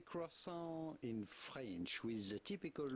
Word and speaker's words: croissant: The T at the end of croissant is definitely silent, so do not say croissant. Croissant. But rather croissant.